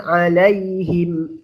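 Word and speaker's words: عليهم: Sawa'un 'alaihim a'anzartahum am lam tunzirhum la yu'minun. Sawa'un 'alaihim Alaihim kan akhirannya mim sukun. Alaihim, mimnya sukun. Setelahnya a. Alaihim a'anzartahum. Jelas. Jelas di bibir.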